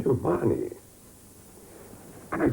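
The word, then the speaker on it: Mahony: And apparently the way the Irish pronounce M-A-H-O-N-Y is, I can't quite say it, Marnie.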